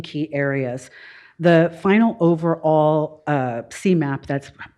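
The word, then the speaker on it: SEMAP: The final overall CMAP, that's how we pronounce this, for the fiscal year ended 23 is 96%, netting us a high performer designation by HUD.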